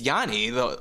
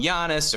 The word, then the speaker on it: Giannis: complete vindication for you calling janice yani like that's how you've you know you don't hear uh analysts call him giannis or you even hear giannis or whatever but tassie's been saying it right no one else is